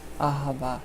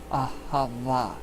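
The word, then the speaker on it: אהבה: Ahava. It's spelled A-H-E-V-A, but it's pronounced Ah-Ha-Va.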